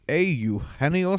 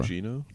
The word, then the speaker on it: Eugenio: Moustakas, Anthony Rendon, and Eugenio Suarez. Who'd you vote for? Eugenio? It's actually not. It's Eugenio.